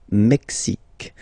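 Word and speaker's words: Mexique: Canada mexic mexic mexic it's really the mexic and then remember this Q it's only mexic okay brail brail okay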